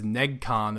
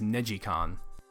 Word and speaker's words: NeGcon: different Ridge Racer games I always pronounce the first one as negcon apparently it's neicon yeah that's been a